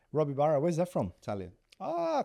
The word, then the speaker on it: Robibaro: Robibaro. Robibaro.